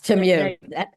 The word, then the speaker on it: Temu: Temu, is that how you pronounce it? Temu? Yes, Temu.